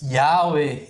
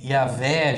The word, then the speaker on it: Yahweh: Então, tem vários tipos de pronúncias, Yahweh, Yahvé, Javé. Então, várias formas, né, que já foram propostas como seria a pronúncia correta. Mas a que se popularizou mais é Jeová, mas não que seja a correta em si, né?